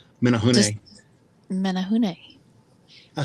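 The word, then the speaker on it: Menehune: And Steph, you're going to kill me because I'm going to pronounce this wrong. Just Menahune. Menahune.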